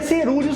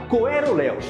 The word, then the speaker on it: coeruleus: O cerúleos se escreve desse jeito e se pronuncia cerúleos mesmo. Cerúleo, inclusive, significa em português da cor do céu e da cor do mar. Se você quiser falar errado ou aportuguesado, fala coeruleus, tá? Não fala coerelos porque nem dá pra saber de onde sai